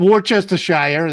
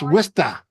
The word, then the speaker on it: Worcester: I can't argue because It's not Worcestershire, that's for sure. It's Worcester.